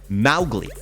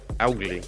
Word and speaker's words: Mowgli: But the way that you're supposed to pronounce it, according to Rudyard Kipling, is Mowgli. Mowgli, okay. Like the M-O-W rhymes with cow, not mo.